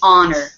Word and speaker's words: honor: those strange english words normally we pronounce the h at the beginning of a word but not in this word this is honor order okay good so